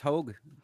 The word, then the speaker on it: Hoeg: Hi, this is with Hoeg Law. Am I pronouncing that right? Yep, it's Hoeg. Long O.